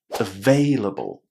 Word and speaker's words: available: Now, another thing you have to remember about this word is that we put the stress on the second syllable. Veil. Veil. So now we have veil and able. Vailable. Vailable. And all we're missing is a very short vowel sound at the beginning of this word. Available. Available.